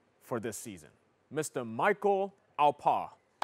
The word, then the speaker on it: Alpaugh: Alpa. Yeah. Alpa. Yeah. Okay. So there's 3 silent letters at the end of my last name, so okay.